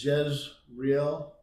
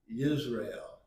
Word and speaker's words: Jezreel: His first child was a boy, and his name is, we would read it Jezreel, but it's really pronounced Yisrael.